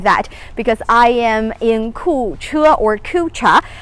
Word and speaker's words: Kucha: because i am in ku chua if you like to pronounce it in an english-style cucha and this is actually